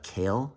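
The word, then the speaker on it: Cayl: Again, I've said this a bunch of times already, but I'll pronounce it Kale, C-A-Y-L, from South Korea.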